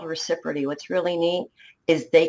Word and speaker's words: ReciProty: I always say, people say, Renee, how do you pronounce ReciProty? I say reciprocate on ReciProty.